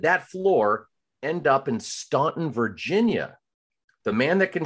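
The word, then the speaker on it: Staunton: correct one thing it's actually pronounced it's actually pronounced Stanton is it really it is you would I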